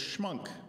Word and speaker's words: Schmunk: Ever since 1956, I've been able to tell people it's Schmunk, pronounced like the mayor's name, except that I have an M where he has an R.